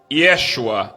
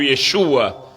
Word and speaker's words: Yeshua: não é correto e o nome correto é Yeshua ou Yeshua como as pessoas que